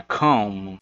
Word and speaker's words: come: Percebam que é esse O aqui, ele tem um som puxado pro A, então é come. E aí esse E aqui no final, ele é mudo.